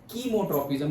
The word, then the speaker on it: chemotropism: and chemotropism or say chemotropism, but chemo generally नहीं pronounce करते, chemo ही करते हैं, केमिकल के जैसे, chemical tropism.